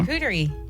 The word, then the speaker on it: charcuterie: charcuterie. Okay. Just say it correctly. Relax your mouth ever so slightly. It's a French word, after all. And let it slide right out as charcuterie.